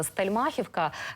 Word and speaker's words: Стельмахівка: стельмахивки так Саме так словники кажуть що правильно наголос стельмахівка Чи ви можете підтвердити